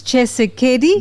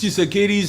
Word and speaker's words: Tshisekedi: I mean, Tshisekedi came in there when Am I pronouncing it right? Say it. What did you say? Felix Tshisekedi?